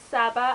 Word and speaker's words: Saba: a girl called um Saba I think that's how you pronounce it s a b a saba and um it's in